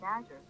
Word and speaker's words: Azure: That's pronounced Azure.